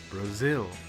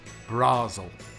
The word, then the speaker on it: Brazil: you sound more natural remember it's Brazil not brasil' okay thank you very